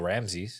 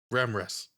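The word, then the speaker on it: Ramras: Voiced, of course, by Rachel Ramses. Yeah. Ramrus. Ramrus. I completely butchered Did you that, even look at but- the wiki?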